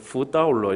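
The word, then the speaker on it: 福到了: 그냥 중국어로 읽었을 때의 뒤집어질 도자나 당도할 도자, 도착할 도자나 발음이 다 똑같아요. 따오라고 했습니다. 그래서 보통 복이 도착했다, 복이 왔다라고 할 때 복을 후라고 했거든요. 그래서 후따올러 이렇게 얘기합니다. 후따올러.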